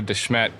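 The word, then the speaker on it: De Smet: our family goes all the way back to Desmet South Dakota shortly after Laura Engles Wilder was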